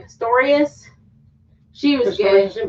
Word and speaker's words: Pistorius: Pistorius.